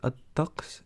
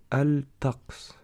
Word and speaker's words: الطقس: Attention à bien prononcer الطقس et non الطقس, car le ta est une lettre qu'on appelle solaire et qui annexe le lemme du mot al. Le mot al signifie le ou la.